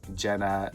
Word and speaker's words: GÆNNA: Monster themselves clarify that this doll's name is Jenna, but it's spelled G A E N Y.